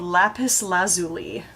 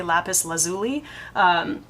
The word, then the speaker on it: lapis lazuli: picked for me is called lapis lazuli or lapis lazuli depending on how you pronounce it I say lapis lazuli this is this Queen